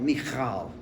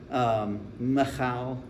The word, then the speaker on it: Michal: If you're good at Hebrew, you get a lot of phlegm in the back of your throat.